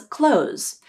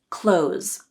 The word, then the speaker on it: clothes: in close the door lots of times native speakers will drop the th sound when it comes between a consonant and an S sound in order to make their speech sound more fluent clothes you can use this